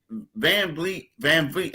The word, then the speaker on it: VanVleet: I mean, because the thing is, VanVleet. I always mispronounce the guy. I want to say Fleet. I want to say Fleet every time.